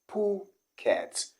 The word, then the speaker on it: Phuket: vulgar english phrase okay so people do say this because of the spelling but i'm gonna shock you okay you're gonna realize that the word actually the city is pronounced as phuket and not this okay number two is